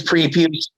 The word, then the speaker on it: Prepuce: Well, I can't talk, but yeah, it is Prepuce.